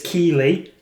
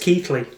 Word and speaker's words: Keighley: People often mispronounce it as Keighley or Kaylee because of the spelling, but it's actually pronounced Keighley.